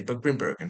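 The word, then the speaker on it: Grimbergen: Uh Grimburgen Grimburg, I would call it. Yeah, that's the the right way to say. Grimburgen for all of you scrubs.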